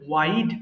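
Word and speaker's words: wide: means সংকীর্ণ ওয়াইড প্রশস্ত এটা কিন্তু উইড না এটা হবে ওয়াইড প্রশস্ত ব্লান্ট ধারহীন যেটা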